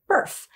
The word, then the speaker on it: Barf: Actually, it's pronounced Burf, but the written word